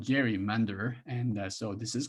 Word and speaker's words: gerrymander: Sab Matsumoto: Jerry's salamander, or it should be Gary, but it's called gerrymander.